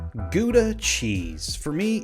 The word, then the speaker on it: Gouda: Gouda, or pronounced Gouda if you want to sound Dutch, has been around a lot longer than you would think.